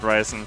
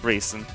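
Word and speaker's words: Reisen: I'm probably also mispronouncing her name really horrible. Raisin. Yeah, Raisin. Not Ryzen, Raisin.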